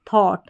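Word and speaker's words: thought: फिर टी एच को यहां पर थ पढ़ा फिर आपके पास कोड हो गया तो ऑट यानी थॉट इस तरीके से आप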